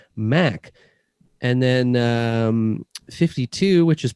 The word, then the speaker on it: 52: And then 52, which is pronounced 5-2, is a reference to the biblical